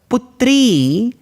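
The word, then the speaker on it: पुत्री: general denotes the daughter remember putri asks for a few more seconds than Putra Putra putri so when I have to elongate that particular pronunciation it takes one or two seconds more so the gramian in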